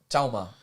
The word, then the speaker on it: 小马: 小马, Xiaoma. 小, Xiaoma. so 小 is the first word. It's like little, Okay. and ma it depends on which accent it is, but I'd say it's ma.